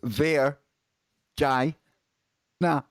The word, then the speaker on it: Virgina: in uh cethalonik cethaloniky vagina pronounced ver jai nah just in case he needed that breaking up into syllables and has unwittingly fallen